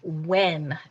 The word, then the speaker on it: when: our next word is when w-h-e-n that's remember that silent h is there but remember when you're